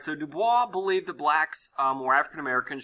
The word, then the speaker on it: Du Bois: left here you have W EB du Bois is how you say his name and on the right